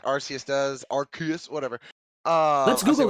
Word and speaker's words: Arceus: So on Google, like official Google, it says Arceus, Pokemon species, American pronunciation. Arceus.